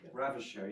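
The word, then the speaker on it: Ravicher: We're then introduced to the work that Dan Ravitcher, is that how you pronounce it? Ravitcher, yeah.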